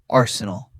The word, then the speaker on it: Arsenal: Arsenal. Arsenal. Excellent. Notice the first syllable is strong. A r and the rest is soft and quick.